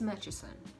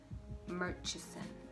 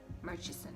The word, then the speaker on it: Murchison: stuck these days it's matcheson murchison murchison because it's a ch then is that where